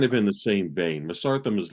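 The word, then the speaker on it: Mesarthim: you guys that's also from Australia and it's masartham yeah you sent me that really kind of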